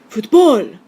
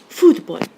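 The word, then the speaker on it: fútbol: write in the accent take a look at this final example it ends in an l so it's a rule two word if there were no written accent mark on it you'd follow rule two with the stress on the last syllable and you'd say futbol it's very exciting word it almost sounds kind of german but what we say is foodboy so we have to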